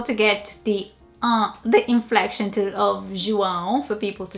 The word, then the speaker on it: João: The name João would probably be here João or João, but definitely João.